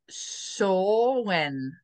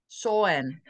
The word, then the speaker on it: Samhain: Oh, here it says pronounced Sawen. Sawen.